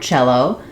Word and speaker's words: cello: The letter C typically sounds other than the ch sound. Cello is an exception to the spelling rules. So in the word cello, it says ch, which we typically spell with letters ch or sometimes letters ti.